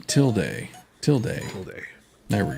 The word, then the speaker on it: tilde: pronounced tilde.